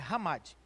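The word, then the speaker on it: חמד: no hebraico quer dizer hamad você vai ver escrito na sua revista chamade mas a pronunciar ramadi ela vai aparecer 14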